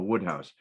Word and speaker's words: Wodehouse: oh um his first names are but uh Woodhouse it's spelled wodehouse though I mispronounced him when I